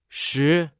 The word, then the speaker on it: 识: 识， Se pronuncia con el cuarto tono.